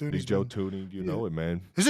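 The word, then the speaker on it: Thuney: He's Joe Tuni. You know it, man. Is it Tony or Tony? Have I been pronouncing it wrong my whole life?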